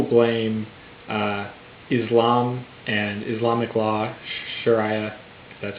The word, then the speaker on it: Sharia: bit if people blame Islam and Islamic law Sharia that's how you pronounce it um if they blame those things